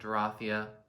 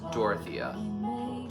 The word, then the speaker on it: Dorothea: chalk number eight is dorothy or dorathia i don't know like it can be pronounced either way sometimes so let's see